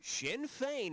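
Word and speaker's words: Sinn Féin: For example, how should the name of this Irish political party be pronounced faint or uh I think Shinfane. Shinfane is the correct pronunciation.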